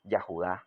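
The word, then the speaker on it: Yehudah: Que mal traducido Judas, no se dice Judas, se dice Yahudá. ¿Por qué? Porque así se llama el patriarca.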